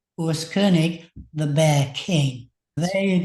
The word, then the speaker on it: Koenig: this actual Urus himself telling me how to pronounce his own name, Kernig, the bear king.